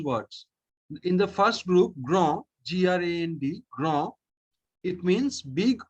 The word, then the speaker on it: grand: Gron. No, D is pronounced at the end. No. Gra. Grand, very good.